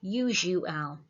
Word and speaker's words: usual: And then U, which is being spelt with a U. And then owl, owl, usual.